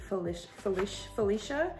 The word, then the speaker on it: Felicia: So this one is inspired by one of Buffbunny Collection's athlete, Felicia. That's how you pronounce her name.